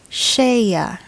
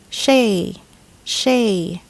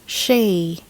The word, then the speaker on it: shea: Advertisements always pronounce this shea, but the correct English pronunciation is shea, not shea. It's shea, as in shea butter.